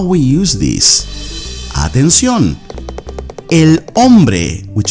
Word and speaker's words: hombre: Now, the first word for today is hombre. Notice you don't pronounce the H.